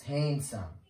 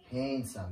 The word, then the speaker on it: handsome: very nice handsome handsome many people used to pronounce the D here in handsome but it's violent it's handsome handsome you are being so